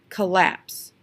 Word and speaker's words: collapse: stressed unstressed and then we have this word which still has two syllables collapse collapse what did I stretch the building collapsed I stressed the last one in this so that one makes